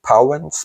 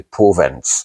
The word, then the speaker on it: Powenz: The English reader may pronounce it Powenz, but the German way to pronounce this family, his family name is actually Powenz, so it's the Powenz Pack.